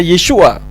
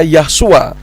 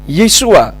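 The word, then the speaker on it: ישוע: dan keempat huruf tersebut membacanya yesua ada sementara orang yang mengatakan bahwa yesua itu berasal dari kata Yahweh dan Sua sehingga disebutnya yahsua namun hal itu keliru yang benar yesua huruf Ibrani Yot di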